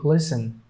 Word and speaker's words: listen: So, oh, this one is FTEN, FTN, and the, okay, so this will be listen, listen.